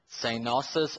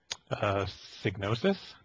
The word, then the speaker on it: Psygnosis: is Sony Studio London, formerly known as Synosis, or what did you pronounce it as, Derek? Signosis? Psygnosis, which I presume is the proper pronunciation of it, though, is unfortunately shutting its doors as well.